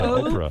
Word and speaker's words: Oprah: Omarosa, Oprah. Oprah. Yeah, right. It's a hard O, same as you.